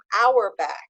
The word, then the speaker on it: Auerbach: delighted to welcome our guest today Nicole now our back is that how we pronounce it yes that's right Oh wonderful so